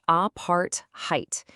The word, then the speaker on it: apartheid: Our next word is apartheid, pronounced apart, height.